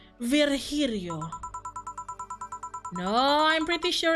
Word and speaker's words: Virgilio: meet again bartender you look winded virgilio it's pronounced virgirio no I'm pretty sure it's for Julio you said as much the last time you